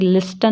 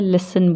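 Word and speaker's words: listen: कोई रूल नहीं लगता जैसे कि लिस्टन नहीं बोलते हैं लिसन बोलते हैं मैच ऑफ इसमें टी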